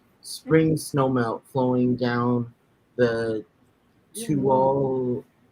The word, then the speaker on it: Tuolumne: it originates from spring snowmelt flowing down the Tuolumne. How do you pronounce that? Tuolumne River.